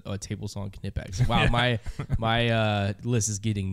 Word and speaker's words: Knipex: And just to let everybody at home know, it's spelled Knipex if you're trying to look it up, and it's pronounced Knipex.